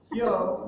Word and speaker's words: Hyo: For me to remember the twins, Hyo rhymes with no, so no glasses Hyo, with glasses Zui.